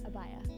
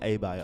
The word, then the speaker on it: abaya: this garment right here abaya abaya oh can you spell bio a-b-a-y-a so the a is silent in the in the beginning abaya oh oh you said a-bye okay i thought you